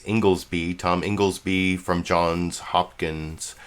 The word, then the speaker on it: Inglesby: Oh, I guess apparently it's pronounced Inglesby. I'm assuming that Chris Wallace got Inglesby correctly, because I look at it as Ingles.